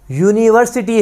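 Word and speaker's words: university: आएगा यूनिवर्सिटी से पहले यूनिवर्सिटी है यू हम बात करेंगे व्यंजन का इसमें साउंड आएगा तो ए यूनिवर्सिटी आएगा ऑप्शन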